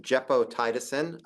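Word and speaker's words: gepotidacin: move on to a novel antibiotic it is pronounced jeppo tiisin um I practiced for this talk specifically um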